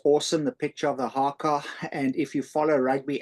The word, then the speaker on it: haka: Did I pronounce that right, Rifle? Yeah, haka, H-A-K-A, haka.